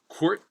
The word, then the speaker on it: court: Court. Court is short. It rhymes court, short.